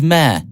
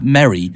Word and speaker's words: Merry: And the thing is, my phone it's MERRE, isn't it? Yes, it is. And now my phone pronounces that as mare. And so I need to change my phone settings so that it pronounces that word as Merry. And then I'll start pronouncing your name correctly.